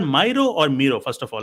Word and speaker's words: Miro: jira but this is miro the way to remember it is pronounced similar to hero ah it's pronounced similar